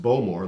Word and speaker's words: Bowmore: Now, the Bowmore, pronounced Bowmore like bow and arrow, right?